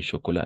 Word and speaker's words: chocolat: Par exemple, ici, le chocolat, la T no se pronuncia.